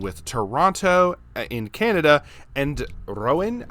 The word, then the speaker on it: Rouen: Toronto in Canada and Rouen, I believe is how it's pronounced, in France.